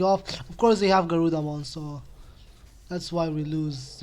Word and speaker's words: Garudamon: They have Guardramon or Garudamon. I was pronouncing the name wrong.